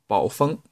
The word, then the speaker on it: Baofeng: But this one should be called Baofeng Wouxun.